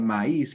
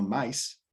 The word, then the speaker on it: maíz: en la palabra maíz, para nosotros poder distinguir que maíz es un hiato y que se pronuncia maíz y no maíz, tenemos esa tilde sobre la i. Si no tuviese esa tilde, cambiaría la pronunciación de la palabra.